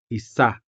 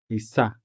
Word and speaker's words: isa: For example, isa, which means one. Isa. The stress falls on the second syllable. So we say isa, isa.